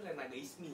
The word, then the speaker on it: Renagaisme: Biasa disebutnya sih Renagaisme. Renagaisme. Sebenarnya dibaca sebenarnya itu Renagaismi sih. Renagaismi gitu. Jadi Renaga tuh gua gitu. Kayak gua banget. Cuman dibacanya kebiasaan Renagaisme.